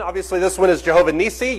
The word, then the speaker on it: Nissi: Obviously, this one is Jehovah Nissi. You can pronounce it nice, however you want to pronounce it.